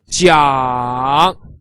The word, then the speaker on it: 讲: So J pronounced J, and I pronounced E, and A-N-G pronounced Ang. So all together, 这一昂江, 这一昂江, with the third tone, which goes from up to down and then up again.